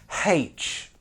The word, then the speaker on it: H: Again, it's not pronunciation, that deserves a punch in the face. But how about this?